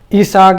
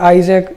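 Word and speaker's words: Isaac: इसाक, ठीक है, इसाक या आइजैक जो बोलो आप, मैं तो किताब में इसाक ही प्रोनाउंस सही समझा इसको।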